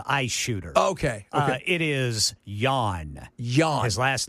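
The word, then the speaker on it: Jahn: It is Jan. Jan. His last name is Jan. Okay. All right. I've been calling it Jean, but you J put a little is silent.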